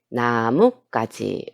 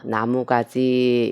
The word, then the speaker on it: 나뭇가지: 나뭇가지. 우리가 나뭇가지라고 얘기하죠. 나무가지 이렇게 발음하는 것은 틀린 것입니다.